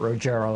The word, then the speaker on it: Rogero: Yeah, she pronounced it Rogero, I think.